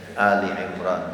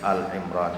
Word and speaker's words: Ali Imran: Ali Imran di awal sudah guceritakan kemarin ada beberapa orang yang mungkin tersalah membacanya. Al dipikir Ali Imran itu alif lamnya sama seperti alif lam Albaqarah. Jadi Al Imran niku mboten. Al itu bermakna keluarga. Alun. Kenapa dibaca Ali Imran?